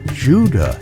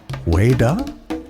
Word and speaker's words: Hueda: So we must ask ourselves, was Juda merely a European mispronunciation of Whydah?